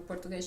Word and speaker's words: português: Ou então, a minha nacionalidade, português, mesma coisa. Só pronunciamos o E. Enquanto que no Brasil... Português. E Exatamente. ainda nós colocamos sempre um izinho, e muitas vezes nós acrescentamos vogais ainda no Brasil, que nem português.